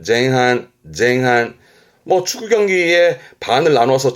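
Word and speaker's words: 前半: 발음은 쟁한, 쟁한.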